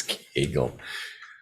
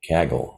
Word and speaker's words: Kaggle: I got it right kangel rhymes with uh bag kaggle oh that's right I've heard that announce I've heard it pronounced that way kaggle so I pronounced it wrong it's kaggle or is it CAG